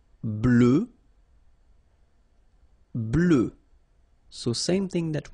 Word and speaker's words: blanc: okay so here masculine BL don't pronounce the final C and then blanch okay